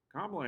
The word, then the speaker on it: Kamala: We have Kamala, and it's spelled Kamala like a comma.